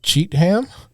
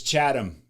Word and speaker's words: Chatham: a t h a m Massachusetts Chad wait cheatam cha chaam is how you know the average white boy I think would pronounce it that's how I kept saying it but it's chadam because everybody's got an accent there and if